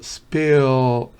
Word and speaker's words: spill: Spill, me alargo, sería una doble E. Pero spill es una I que tiende a E.